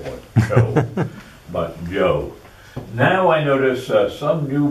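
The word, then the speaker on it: Chou: The most books about China continue to use this spelling, where CH is pronounced J. So that's pronounced Joe, not Chow or Cho, but Joe.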